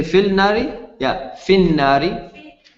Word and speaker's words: في النار: Fin nari. No, connected. Fin nari.